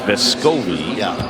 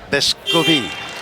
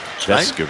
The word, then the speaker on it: Vescovi: to mispronounce his name, but the emphasis is not on the middle syllable. So as much as Tennessee fans think his name is Vescovi, it is not. No, and stop tweeting me, okay? Stop tweeting me. It's Vescovi. Vescovi.